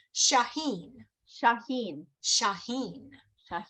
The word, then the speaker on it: Shaheen: Shaheen.